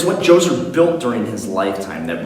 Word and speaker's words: Djoser: The first one is Djoser. That's right, the D is silent. But much like Menes, Djoser brought a united sense